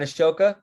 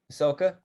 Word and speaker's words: ASOA: thank you that's great not ashoka ahsoka asawa okay so so